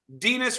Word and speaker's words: Denis: Then I saw, by the way, Dennis rhymes with tennis, Denis rhymes with penis.